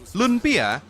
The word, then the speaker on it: lunpia: ya satu garis rasa kata lumpia seringkiali disebut dengan ejaan lumpia padahal penyebutan dan ejaan yang benar adalah Lun dan Pia Lun Pia berasal dari dialek Hokian